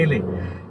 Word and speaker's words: Ralliah: going to it's called really damn i'll spell it for you it's r-a-l-l-i-a-h yeah but people have been calling it relay over here so it sounds like something people call it relay so that's the place